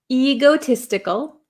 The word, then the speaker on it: egotistical: say ego egotistical um it's a long e sound e egotistical egotistical egotistical is a